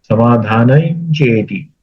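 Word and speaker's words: समाधानं चेति: समाधान समाधानम च इति लेकिन जब हम एक साथ बोलेंगे तो समाधान समाधान चति च न का उच्चारण करेगा क्योंकि वास में अनुस्वार जो है वो न्य के जैसे य अनुसार है समाधान चेती ऐसा उच्चारण करेंगे तो अच्छा लगता है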